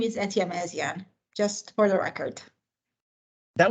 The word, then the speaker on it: Etyemezian: And my last name is Etyemezian, just for the record.